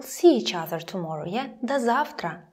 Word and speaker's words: до завтра: До завтра, so until tomorrow, pronounced like да, до завтра.